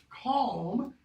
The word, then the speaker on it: calm: When we say calm and palm, we are inserting those L's.